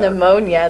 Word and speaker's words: pneumonia: little brother's got Pannonia pneumonia the P is silent and it's a computer